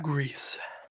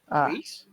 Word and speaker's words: Gris: Greece. Grease? Gris. Grease lightning. Yeah, it's supposed to be pronounced Gree, Gris.